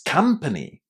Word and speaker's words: company: It's company. Did you remember about that short A in the first syllable?